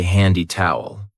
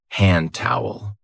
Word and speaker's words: hand towel: We don't usually say handy towel. We link it and we say hand towel.